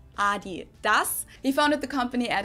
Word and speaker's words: Adidas: Pronounce it Adidas, and in Germany we say Adidas. Adidas, Adidas. Super different.